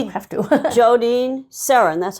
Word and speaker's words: Sarins: Jodean Sarins, that's how you pronounce Sarins.